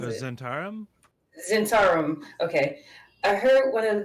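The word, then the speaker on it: Zhentarim: How do you pronounce The it? Zentarum? Zentarum.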